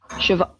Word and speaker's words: Siobhan: How dare you use an Irish name and you don't know how to pronounce it? I'm like Siobhan. It is It is. How do you How are you saying it? Siobhan.